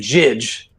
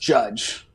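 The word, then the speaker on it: Jydge: So people have been saying Jidge, but it's pronounced Judge.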